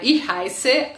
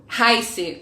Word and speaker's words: heiße: esse dois S's aqui, heiße, se escreve H-E-I-S-Z-E, que é H-E-I-S-Z-E. Esse S-Z, que não é um B, parece com um B, mas não é, ele é pronunciado como dois S's, tá bom?